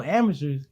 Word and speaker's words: Amycherz: But I didn't want to name it Amycherz like how it's spelled, because that's basic. You know what I'm saying? Amateurs, obviously, right?